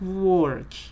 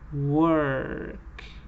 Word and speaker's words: work: It is not work, it is work. Shirt, burn, work. It's that sound.